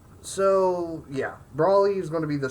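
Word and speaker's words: Broly: Me personally, I call it Brawly, and I think that is actually the proper way you pronounce it.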